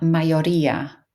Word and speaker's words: mayoría: Your stress on mayoría, mayoría.